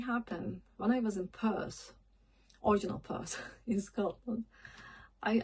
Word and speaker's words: Perth: And also I noticed um they're not saying Perth, they're saying "Piert".